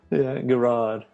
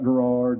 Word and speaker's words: Garrard: i think most people as long as you pronounce it correctly they're happy yeah garage yeah yeah not a garage not gerrard not gerrard yeah yeah well um i guess